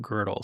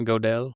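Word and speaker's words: Gödel: That is essentially what Kurt Girdle said if you want to go back and read his papers. Or Wickinstein. Another one of my favorite. It's pronounced girdle, not godell.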